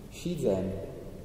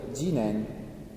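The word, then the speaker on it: 自然: Anche qui uno dei modi per dire natura, shizen, che si legge anche jinen, due modi per leggere due caratteri.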